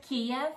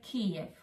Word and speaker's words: Kyiv: Well, actually, Kyiv. I don't know if you can spell it. Not Kiev, but Kyiv.